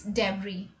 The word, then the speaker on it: debris: one okay so here the letter which is silent is s so we don't say debris it's debris right now what is debris